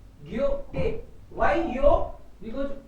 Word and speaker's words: Goethe: So generally H is silent in the middle. So maybe you can read it Goethe. Goethe.